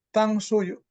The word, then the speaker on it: 탕수육: Gimana bacanya? 자장면 benar Ustaz. Jajangmyeon. Yang bawahnya? 자장면, ya, 탕수육, Jajang. Tangshuyu. 탕수육. Tangsuyu.